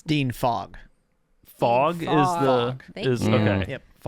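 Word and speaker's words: Fogg: Oh, I thought you meant like at the time it's Dean Fog.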